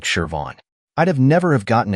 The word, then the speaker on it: Siobhan: It's Shervon, she said. I looked at her resume and tried to make sense of the spelling. Siobhan didn't look anything like Shervon.